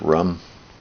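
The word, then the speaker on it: रं: Indian approach should be rum spelled Ram but pronounced rum to control the fire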